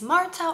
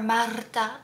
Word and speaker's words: Marta: if you're new here my name is Marta or Marta if you can roll your r's but either way it's fine I did not straighten